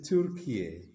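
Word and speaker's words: Türkiye: What is the right way? It is Turkiye.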